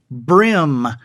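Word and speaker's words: bream: be our II AM it has always been pronounced brim oh and the big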